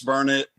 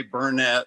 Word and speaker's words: Burnet: it right is it burnard Texas yes it's Burnet don't ever say Bernett or people around here will get after you about it I know